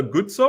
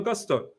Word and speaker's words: Gusto: Is it meant to be Malo Gutso or Malo Gusto? He's got that wrong. Got me pronouncing Gutso, Malo Gusto.